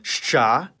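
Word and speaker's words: Щ: It's called shcha, and like its name, it makes the sound sh. You might think that this is two sounds in one, but in practical conversation, it can be pronounced much faster, blending the sounds together. Something like sh. And Bulgarians pronounce it more like sht.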